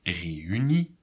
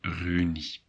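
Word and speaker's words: reünie: And reunie, EU, you have to pronounce them separately, otherwise it would be reunie. And that's not the way you pronounce reunie, which means reunion.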